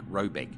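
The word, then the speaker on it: Råbäck: hair guard in question is to be called rayback pronounced something like robec though it is not its name it is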